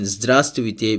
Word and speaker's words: Здравствуйте: Here in Здравствуйте we do not pronounce the first V, and in Солнце we do not pronounce the letter L.